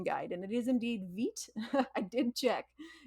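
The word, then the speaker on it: Vite: and it is indeed vit I did check like the French word for life I guess yeah no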